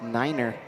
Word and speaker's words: Neiner: Correction, 25-pound athlete from CBU is pronounced Neiner.